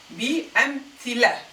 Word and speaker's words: بأمثلة: See, I ignored the feminine marker and pronounced just the lam with its فتحة. بأمثلة.